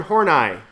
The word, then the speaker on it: Horney: Alfred Adler and Karen horney it's actually horny but she pronounced it horny but whatever so I'm